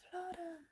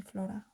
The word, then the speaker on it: Flor: he was like, oh, Flora. He calls me Flora or Flore or Flor. Now he knows how to say my name. He said Flor, and then I was like, oh, so sweet.